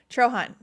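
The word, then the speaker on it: Trojahn: How do you pronounce? I think she's a She's a bloomer. Trrohan.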